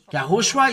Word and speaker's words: Yahushua: uh name and it's from the the Jew yahushua is his name and this is the way to pronounces but the Jesus where is Jesus in